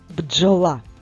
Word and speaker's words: бджола: правильно поставивши наголос бджола.